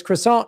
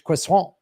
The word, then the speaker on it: croissant: He goes, well, Porsche is the English pronunciation and Porsche is the German pronunciation. I was like, oh, like you say, like it's croissant in English, it's croissant.